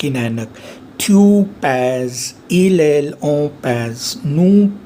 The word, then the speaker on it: pèse: So to make it rhythmic and it may be pronounced, अगर मैंने ई पे grave accent लगा दिया, सो ई को मुझे ए बोलना पड़ेगा. So that means j pèse. See, it's so beautifully phonologically structured, this language.